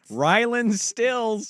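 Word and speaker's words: Rylan Stiles: Ryan Stills. Yes. Rylan Stills. Nailed it. Timberwolves and Warriors. Rylan Styles. Once you say a name wrong, it is in your head the rest of the show.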